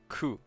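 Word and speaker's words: ク: Ku. This is Ku. It's a consonant followed by a vowel. Haha. You pronounce this as Ku, like in the word cool.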